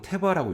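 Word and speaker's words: תבה: 여러분, 이 갈대 상자라는 단어가 히브리어로 테바라고 읽거든요.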